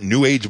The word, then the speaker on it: newage: Like many other ancient crackpot New Age beliefs, or as I prefer to call it, newage, as in rhymes with sewage, crystal power was particularly big in the 1970s.